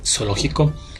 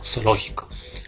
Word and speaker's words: zoológico: Aquí en Ecuador pues si nosotros pronunciamos pues zoológico, pues la Z suena como S, ¿no? Zoológico. Claro, si vamos pues a España, allá pues la Z suena en ocasiones como sería zoológico, ¿verdad?